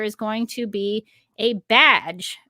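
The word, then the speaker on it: B'dg: going to be a badge, which I think is how you pronounce it. If you look at the name, it's spelled B''DG, but I think I've heard it pronounced as badge.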